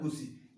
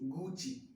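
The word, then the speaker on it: Gucci: तो ये गुसी है या नहीं? इट्स नॉट अ गुसी, इट्स गुची।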